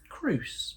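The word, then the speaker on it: Crouse: going to Mis pronounce names I'm all for pronunciations c r o u s e Cru yeah thank you Ed but so Misery all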